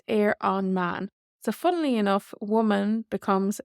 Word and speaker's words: ar an mbean: ban for a woman but on the woman is air on man so our B takes an m and then we lose the B sound and it's air on man so funnily enough woman